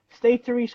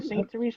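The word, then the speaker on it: Sainte-Thérèse: It was built in Canada, State Therese, Quebec, or Saint Therese, Quebec.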